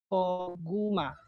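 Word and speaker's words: 고구마: First syllable is ko. Second syllable is gu. Third syllable is ma. Koguma. Koguma. Koguma means sweet potato o yung kamoy.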